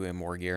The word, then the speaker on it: Amorgir: I'm switching my pronunciation of that to Amorgir instead of Emolgir because while I like Emolgir better and I think it rolls off the tongue better, Amorgir is, I think, what they're officially going with at Toei